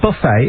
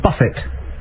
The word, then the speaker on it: Buffett: on this just like it's not a buffet it's a Buffett no it is a